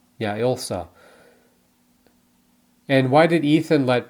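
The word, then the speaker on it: Ilsa: uh what happened to Elsa's body am I pronouncing her name right I wanted to say Isa yeah Elsa and why did Ethan let Paris live and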